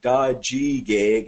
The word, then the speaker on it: Tajike'k: So Tajike'k, as we say, is how we pronounce it type thing, right?